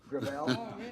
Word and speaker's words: Gravel: within my family grel grael it's a French name thank you uh I